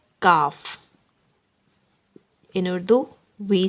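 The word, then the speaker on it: کاف: Okay, in soft sound we will say K, A, K, but we will pronounce it Kaaf.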